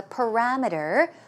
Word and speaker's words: parameter: Okay, and also parameter. Stress goes right here on RAM, and we're talking about limits or boundaries.